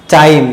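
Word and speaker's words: thyme: यहाँ पे H word silent होगा और इसके पढ़ेंगे टाइम।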